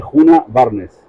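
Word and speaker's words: Djuna Barnes: ejemplo te leído a nunca sabido Cómo se pronuncia bien de juna barnes Ah juna barn juna barn no no le he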